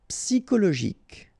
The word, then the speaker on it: Psychologique: Psychologique, okay, remember it's an exception here because you've got this C-H-O. Normally we should pronounce it CHO, okay, but in that case we pronounce it CO.